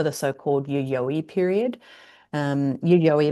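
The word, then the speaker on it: Yayoi: Um Yuyoi like Yuyoi Kasama um pronounced the same way named after a suburb in Tokyo actually where they made the first significant find from this period.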